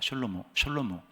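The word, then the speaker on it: שלמה: 솔로몬의 뜻은 그 히브리 발음대로 하면 셜로몬입니다. 셜로모.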